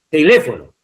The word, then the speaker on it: teléfono: teléfono en la antes penúltima, aunque tenga una sílaba